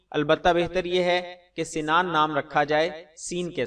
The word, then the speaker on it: سنان: جواب: واضح رہے کہ سنان کا اصل تلفظ سین سے سنان ہے، السنان سین کے زیر سے۔ اس کا معنی ہے نیزے